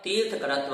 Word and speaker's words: तीर्थकर: इस प्रकार से यह 10 चा अर्थात और तीर्थकरत्व अर्थात तीर्थकरत्व, यह 42 भेद नामकरण के होते हैं। यहाँ जो तीर्थकरत्वञ्च यह पद है, यहाँ तीर्थंकर नहीं पढ़ना है, यहाँ तीर्थकर, तीर्थकर इस प्रकार से उच्चारण होगा, तीर्थकरत्वञ्च।